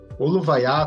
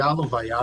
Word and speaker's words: Oluvaiá: Oluvaiá, também chamado de Aluvaiá, as duas pronúncias são corretas, significa movimento.